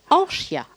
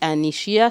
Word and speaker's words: Anchya: Non, c'est Anchia. Anchia. Il n'y a pas besoin de prononcer le N. Anchia. C'est Anchia. Ah ouais, c'est du Shimaoré. C'est un prénom Shimaoré. Ouais. Quand on dit Anishia, c'est quelque chose qui me dépasse.